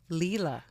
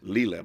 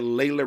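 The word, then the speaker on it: Lela: pronounce your first name your first name is pronounced correctly how Leela Leela but but so where did the Lila ran thing come from why do we all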